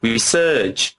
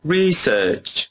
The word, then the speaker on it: research: In British English, you can say research or research, and it's the same in North American English. That's right. Some people say research, again with our characteristic sound, and others pronounce it research. You can stress either syllable.